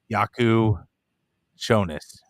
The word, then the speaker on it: Jakucionis: an unbelievable skill um yaku shonas that's that's understanding it too that the Jay is kind of silent but again i' I've